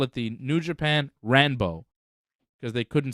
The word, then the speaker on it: Ranbo: it the New Japan ranbo cuz the L Sound is like not something in Japan that they have so um it's ranbo New Japan they call it the New Japan ranbo because they couldn't say